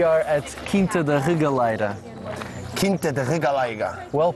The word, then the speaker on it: Quinta da Regaleira: Quinta da Regaleira. Well pronounced, by the way.